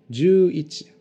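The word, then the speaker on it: 十一: Du coup, 11 se dit juichi. Voilà, on colle simplement les deux kanji de 10 et de 1 et on les prononce à la suite.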